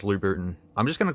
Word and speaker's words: Louboutin: gotta say it correctly I'm tempted to say Louboutin but it's Louboutin I'm just gonna call